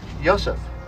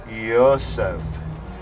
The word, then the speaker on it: Yosef: This is Yosef. Sound it out and that's what you hear. Yosef.